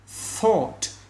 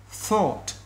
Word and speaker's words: thought: Thought. Nhớ đưa cái đầu lưỡi ra giữa khe hàm răng. Đó, các bạn nghe chưa? Thought.